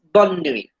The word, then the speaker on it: bonne nuit: So the pronunciation is bonne nuit.